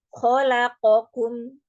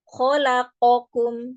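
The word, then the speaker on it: خلقكم: khalaqakum yang harusnya dibaca khalaqakum. Nah, itu juga sering kali dibacanya pada huruf qaf itu lebih pendek durasinya ya daripada huruf yang di sebelah-sebelahnya ya. Harusnya kita membacanya dengan khalaqakum. Khalaqakum, tidak khalaqakum. Khalaqakum.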